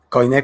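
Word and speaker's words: Koiné: Coine con K y acento en la E.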